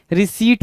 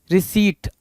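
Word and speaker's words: receipt: पढ़ते हैं भाई मेरे रिसीप्ट पढ़ते हैं रिसीप्ट ठीक है इस रिसीप्ट को पढ़ पढ़ते टाइम भी बहुत सारे लोग गलतियां करते हैं। और पहली चीज दूसरी चीज कि इस पे स्पेलिंग में बहुत सारी गलतियां होती हैं। क्या होती है भाई? आर ई सी ई आई पी टी रिसीट आर ई टी ई आई पी टी रिसीट होती है।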